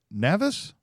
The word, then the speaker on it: Navis: And that is, am I pronouncing it right? Is it Navis? Exactly.